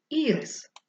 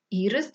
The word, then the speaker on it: ірис: Прочитайте слово поставте наголос ми можемо прочитати це слово Ірис поставивши наголос на перший склад ірис - це назва квітки а можемо прочитати Ірис - це назва цукерки Отже дітки сьогодні ми